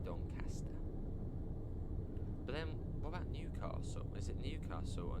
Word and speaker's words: Newcastle: But then, what about Newcastle? Is it Newcastle or Newcastle? Because I've heard it both. Yeah, Newcastle or Newcastle. Newcastle, sort of a silent S. Not silent S. But softer S.